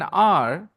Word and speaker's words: hour: R, H is silent, it starts with a vowel sound and it is singular. So you have to say, I have an R, I have an R and a An half, hour.